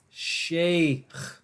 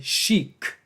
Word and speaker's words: shaykh: this makes the sound so it's shaykh but since Moors don't like their own language for some reason they say chic and if for some